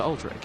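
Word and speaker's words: Aldrich: the sad boy that alri I'm going to I'm going to really emphasize the second syllable of that every time now that you've said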